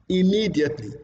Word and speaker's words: immediately: word which is immediately immediately immediately now you can see that the second syllable that word takes more prominence compared to others so that is why